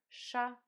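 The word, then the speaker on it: ш: letter chair sound Shh this is letter similar to the sound at the beginning of the word shorts letter shop sound Shh let's see how to write it letter sha sound Shh this is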